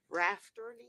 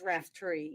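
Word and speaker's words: Raftery: want to start there I've been pronouncing your name all this time wrong rafter it's RAF tree yes and uh quite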